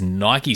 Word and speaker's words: Nike: have a bonus style this week which is Nike style or Nike style depending on how you prefer to pronounce it we have the Incredible Hulk he's